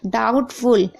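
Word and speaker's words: doubtful: डाउटफुल, यहाँ पर भी आप देख रहे हैं, देखिए टी से पहले बी है तो बी साइलेंट है।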